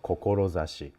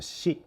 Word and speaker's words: 志: So, this is the character of kokorozashi. You know, or sometimes pronounced shi as well.